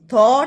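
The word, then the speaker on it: thought: थॉट provoking. यह जी H silent है।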